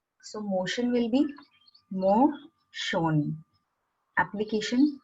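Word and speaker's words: モーション: When there are letters like shun, Asian, ocean, we pronounce it with shon. So motion will be mo shon.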